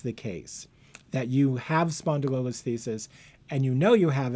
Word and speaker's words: spondylolisthesis: There's nothing easy about spondylolisthesis. Even the pronunciation is hard.